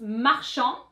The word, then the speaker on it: marchand: In the masculine form, that was the D. Marchand, marchande.